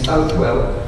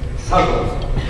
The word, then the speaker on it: Southwell: I think you pronounce his name Southwell, but in England we always say Southwell.